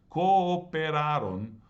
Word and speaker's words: cooperaron: Not only is it a past tense, it's got that extra syllable, but it's got two O's next to each other, and each of those O's is in a different syllable.